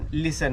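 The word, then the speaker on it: listen: लहानपणापासून ऐकत आलेलो पण स्पेलिंग मध्ये काय लिसन एल आय एस टी एन जोटी आहे ना तो आहे इथे सायलेंट म्हणजे इथे कायतो लिसन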